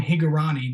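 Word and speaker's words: Hingorani: So kind of coming into that, and of course I mentioned Sean Higurani. That's also how you pronounce his last name.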